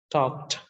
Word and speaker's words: talked: Okay, this ed after the voiceless k is pronounced as t, talked.